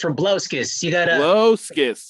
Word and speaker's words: Rabliauskas: fun of me rablioskis oh that's close we don't pronounce the eye in that so it's from blaskis i apologize yeah i